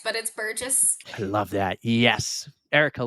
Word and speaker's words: Burgess: I'm like, I didn't ask her for the correct pronunciation. No, you got it right. A lot of people say Burgess, but it's Burgess.